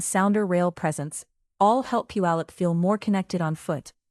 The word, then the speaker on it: Puyallup: Number two is Puyallup, pronounced Puyallup, and it brings a different kind of walkable center to the Seattle area map.